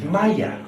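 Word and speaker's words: مية: In Egypt, one of the key words for water is Maya. It is not pronounced the same way in any other Arabic country. If you went to Saudi Arabia, they would say Ma or Meh. Only in Egypt is it pronounced Maya. And it means water.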